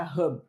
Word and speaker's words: Hub: que se chama Encanta Hub. Se escreve H-U-B, mas como a palavra é em inglês, né, então a gente tem que pronunciar direitinho.